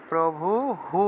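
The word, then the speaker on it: প্রভুঃ: আস্তিরিয়া, শেষ मो भजत, शेषमो भजत, भजत कल्पान्ते, कल्पान्ते भगवन, भगवान আছে भगवान, ভগবান প্রভু, প্রভু হু উচ্চারণ করতে হবে, বিসর্গ আছে, প্রভু হু, কল্পান্তে ভগবান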